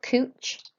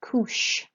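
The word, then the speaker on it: couche: then this is not couch it's Koosh so a CH is like an SH sound in English so summer Koosh then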